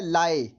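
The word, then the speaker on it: 来: शब्द है वो है लाए। इसकी स्पेलिंग नोट कर लीजिए, LAI। एक बार फिर सुन लीजिए, LAI। इसका ध्वनि वादन कुछ इस प्रकार है, लाए लाए लाए।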